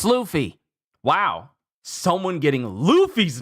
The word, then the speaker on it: Luffy: So I have a question for you, Rhodey. It's Luffy. Wow, someone getting Luffy's name wrong.